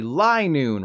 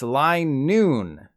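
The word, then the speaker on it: Linoone: middle of the day it should be lie noon right wrong it's line noon it makes sense given that line noon's whole thing is that it runs in straight lines but it still sounds weird to me lie noon rolls off the tongue line noon does not the other lie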